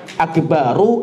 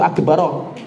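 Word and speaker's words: أكبرُ: Kalau saya tanya Allahu Akbar itu akbaru atau akbaro? Akbaru kan, Allahu Akbaru. Tapi bacanya sering keliru.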